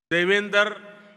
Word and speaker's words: Devendra: I said that their name, Devendra, rhymes with my own name, Narendra.